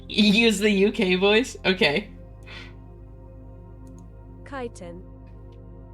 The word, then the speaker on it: chitin: Chitin. It's still chitin. Chitin. Chitin. Chitin. Yeah, chitin. Wait, where? Hold on. It has to be a regional thing. Have you heard other people pronounce it like cheatin?